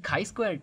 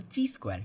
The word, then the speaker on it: chi-squared: the next thing is the chi-squared test or also called as the t-square test uh you can pronounce it both ways so what we do